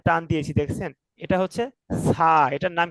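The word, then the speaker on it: ث: তো দেখেন, জিহ্বার আগায় একটু কামড় দিয়ে পড়তে হবে, হালকা জিহ্বার আগা দেখা যাবে, দেখেন।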